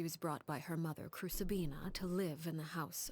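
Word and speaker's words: Crucabena: Okay, so Crucibina is how you pronounce that.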